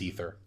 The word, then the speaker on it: Aether: listen the word is the word is Aether but on kaladesh it's pronounced ether this was literally a